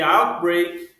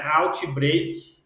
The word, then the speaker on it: outbreak: Então, European Powers leading to the outbreak of the conflict. Então aqui, outbreak a gente praticamente não pronuncia esse T aqui, ó. Não é outbreak, não. Outbreak. Outbreak.